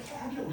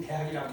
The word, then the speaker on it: 태학: 원래 태학이라고 읽어야 돼요. 근데 뭐 다 지금 대학이라고 했죠.